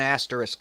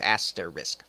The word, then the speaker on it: asterisk: south fan-fucking-tastic let's sorry let me throw an asterisk up right aster risk yes because I hate when I mispronounce that words were just asked their risk let me throw an asterisk up real quick